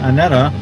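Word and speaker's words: ANETA: Yeah, Anita rhymes with Norman Mineta. Oh, I thought it rhymed with my friend Anita.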